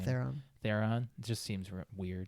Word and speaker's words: Theron: Theron.